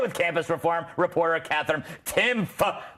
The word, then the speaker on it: Timpf: I'm here tonight with campus reform reporter Katherine Timpf. The P is silent.